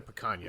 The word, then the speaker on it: picanha: Picanha?